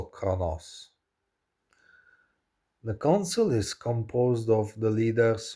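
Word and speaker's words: Qo'noS: the Rome world of Kronos pronounced also Kronos.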